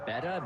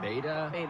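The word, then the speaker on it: betta: This is It's pronounced apparently beta, B-E-T-T-A, but beta.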